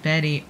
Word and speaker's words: Bet: FYI, Bet name is pronounced like Betty.